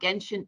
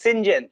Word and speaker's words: Genshin: And my daughter was a character from some anime game called Genshin Impact.